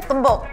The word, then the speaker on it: tumbuk: How do you say tumbuk?